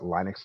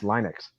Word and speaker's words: Linux: So I'm I've been using Linux since 1996 and it's old enough that I pronounced that Linux not Linux when there was when